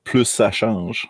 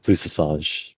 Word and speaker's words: plus ça change: I was gonna say, as a minor thing, it's pronounced plus ça change. Yeah, plus ça change, French.